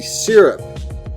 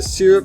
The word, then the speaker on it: syrup: worst coast number three syrup could you pass the syrup no but I can pass the syrup yes the syrup verse syrup debate is a sticky one but both pronunciations are considered acceptable first off great pun